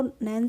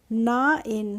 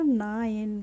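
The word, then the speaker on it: nine: तो क्या हो जाएगा नाइन क्या हो जाएगा नाइन हो जाएगा तो एन आई एनई को हम निने नहीं पढ़ते हैं हम पढ़ते हैं नाइन क्या पढ़ते हैं नाइन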